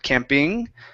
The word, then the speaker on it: camping: So here on the word camping, the stress is on the end instead of camping. Okay, it's camping.